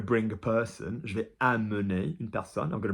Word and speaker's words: amener: Anything that's MEN in the infinitive is mun, so amener, emmener, and in the short